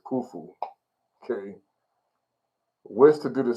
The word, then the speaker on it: Khufu: And he says, and Rikayon is how they say it in Jasper, but it's Khufu.